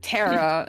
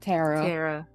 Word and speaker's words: Tara: course it's your name Tara if you like say it like an American Terror okay yes I'm walking